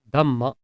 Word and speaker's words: damma: Damma is a short vowel pronounced like the English letter U, and it is always above the letter.